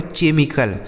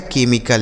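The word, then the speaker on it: chemical: बहुत सारे लोग होंगे इसे पढ़ेंगे केमिकल। लेकिन इसे केमिकल नहीं पढ़ा जाता है। इसे पढ़ा जाता है केमिकल यानी सी एच का उच्चारण यहां पे क हो जाएगा।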